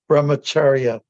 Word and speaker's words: brahmacharya: That's Angel, that's how you that's how we pronounce it. It's called brahmacharya, which means somebody who's in student life and